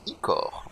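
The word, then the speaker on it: ichor: le remplir d'icor magique ça se prononce ICOR oui on avait compris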